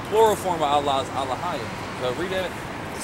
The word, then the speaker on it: Elohim: Which in the Hebrew says Alahayim, which they pronounce Elohim. Yeah, we're Elohim. We're Alahayim is the right way to say it.